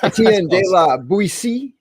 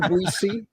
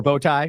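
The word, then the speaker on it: Etienne de la Boétie: Etienne de la Boetie. Okay, so I said it wrong. Boetie or Boetie? I've heard people say it both ways. So, or bow tie, say it incorrectly.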